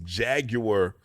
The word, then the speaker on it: Jaguar: I went to one prom, and I drove my uncle's Jaguar XF. Jaguar? It's a Jaguar. It's Jaguar. It's a Jaguar. The Brits say Jaguar, so I'm gonna say Jaguar.